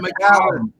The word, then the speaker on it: Macallan: It's Macallan, not McAllen. Macallan. It's Macallan, not Macallan.